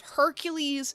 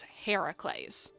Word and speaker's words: Heracles: In Greek mythology, it was uh Heracles. I believe it it's spelled so similarly, but it's instead of Hercules, it's Heracles. I may be I may